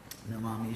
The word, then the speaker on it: nam: Namam Ishwaram. The verb nam in Sanskrit, pronounced like I went numb, means to bend.